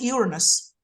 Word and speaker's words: Uranus: So look at that Uranus. I mean, whatever is angular, as far as I'm concerned, draws immediately my attention. And Uranus or Uranus, depending on how you want to pronounce it, is exactly on the descendant.